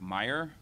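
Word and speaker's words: Mayer: first from Deputy special agent in charge Meyer it's uh pronounced Meer it's spelled m a ye R is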